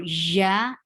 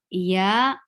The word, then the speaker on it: ي: There is no room for ja in Arabia. When we pronounce ya, it's not Arabic. The ya is very soft letter in the in Quran. So very softly, say very softly. Ya, ya, no harshness, no hard feeling here in ya.